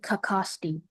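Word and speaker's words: cacaxte: Are there any alternate pronunciations? Uh, I just see kakosti.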